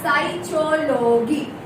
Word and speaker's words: psychology: The correct pronunciation of this word is psychology.